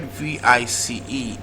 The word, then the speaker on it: vice: option B option B the word VI C E is pronounced vice rather letter C is realizing the sound and if that is